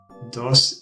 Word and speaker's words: dos: Dos in Spanish is pronounced like dos.